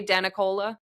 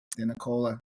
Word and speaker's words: DeNicola: We just say DeNicola. DeNicola, DeNicola. It's like you're in the den having Nicola, the Nicola. Why can't I remember that? I don't know. DeNicola.